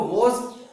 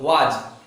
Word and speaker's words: was: चलिए अब मैं आप लोगों को वॉज, जिसको कहते हैं हम लोग वाज, स्कूल वगैरह में वाज, लेकिन एग्जैक्ट प्रोनाउंसिएशन इसका वॉज होता है, वॉज, वॉज, वॉज।